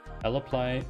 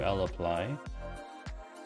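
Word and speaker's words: lapply: that we're passing to l apply l play i'm just going to call it lapley because it's l applies three syllables and laplace's just two so much easier on the right we've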